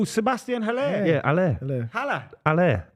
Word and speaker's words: Haller: Haller.